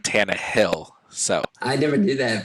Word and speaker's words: Tannehill: i guess like i had always been saying ryan tannen hill but it's ryan tana hill so i never did